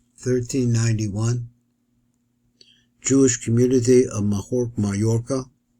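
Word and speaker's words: Mallorca: Jewish community of mahor mayorca they pronounce it mahor I don't really know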